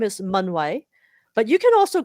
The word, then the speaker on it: Mun-Wai: a little bit sure so I'm going to pronounce my name again so my name is manway but you can also call me if